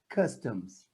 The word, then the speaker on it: customs: Anthony, when we finish the word with M, we don't pronounce the M in Brazil. But in English, we have to say, like we say in English, in Portuguese, Brazilian English, Portuguese. Problem, but problem, right, Anthony? Correct. Problem. The M will be pronounced M.